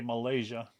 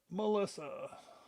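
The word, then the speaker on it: Melyssa: The Y is like an I and just pronounced like the girl's name, just spelled differently. A lot of people get it wrong. Some reason they want to say Malaysia.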